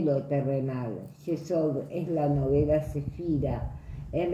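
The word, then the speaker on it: Yesod: tarot no eh está asociada como cefira llamada jes se escribe y e s o d El árbol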